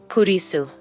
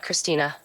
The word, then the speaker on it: Kurisu: getting my name wrong it's not that hard you know k r r i s u kurisu not Christina not anything else kurisu okay yeah fine